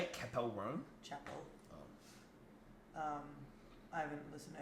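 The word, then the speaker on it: Chappell: Chapel.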